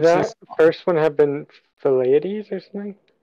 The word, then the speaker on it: Thucydides: Could that first one have been Thucydides or something? It's Thucydides. Can you spell that again?